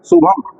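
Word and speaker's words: शुभम्: तो शुभम देखिए भ पे मुंह बंद हो जाता है। शुभम बाकी म का उच्चारण जो नाक से शुभम भ हुआ तो बंद हो गया शुभम तो ये जो है देखिए इसमें ये जो भ के बाद ये जो अनुस्वार का उच्चारण हो रहा है इसका मतलब है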